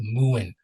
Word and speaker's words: mewing: It's called Muin. Muin. You could when search Muin. So it's spelled Mewing, and it like helps you apparently um work on strengthening your jawline to be more defined.